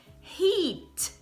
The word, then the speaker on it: heat: Uma é escrito com EA, então o som vai ser de I, do sorriso, né? Então, heat.